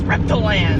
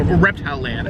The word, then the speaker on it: Reptiland: Yes, Reptiland. So, Reptile Land. It's spelled Reptiland. I think it's Reptile Land. It's Reptiland. It's spelled Reptiland though.